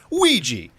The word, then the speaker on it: Ouija: Actually, Paul, I believe it's pronounced Ouija, like Luigi.